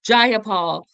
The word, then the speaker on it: Jayapal: So all the DSAs like Bernie Sanders, AOC, Jayapal, and it took me a while to pronounce her name right. Jayapal and Rokana are all very good.